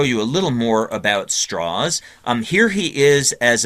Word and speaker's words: Strauss: up mostly in Virginia that's the reason for this pronunciation of straws um he was a